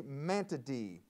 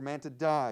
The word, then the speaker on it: Mantidae: insects for 20 points they are part of the family mantady or man to die depending on uh the pronunciation name this insect which